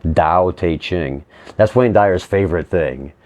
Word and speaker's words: Tao Te Ching: guess it's pronounced Tao, with the T is pronounced like a D, Tao Te Ching.